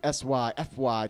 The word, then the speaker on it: Syfy: the Sci-Fi channel s-c-i-f-i Channel now it's the Syfy channel which is much funner to say hi that sounds same but spell it spell it just rolls off the tongue